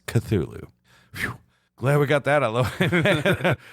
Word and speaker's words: Cthulhu: soup for instance c t h l was originally pronounced either cluel or ctulu yeah i mean but nowadays the most accepted way is cthulhu glad we got that